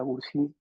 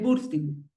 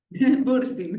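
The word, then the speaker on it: Bursztyn: Eh, Julia, ¿me corriges el apellido de la maestra Felisa? Eh, Burstin. Gracias, Burstin. Sí, problemas de pronunciación terribles acá.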